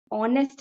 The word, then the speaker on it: honest: See, spot the error and all, they'll give words like this where H is silent, O will be the pronunciation.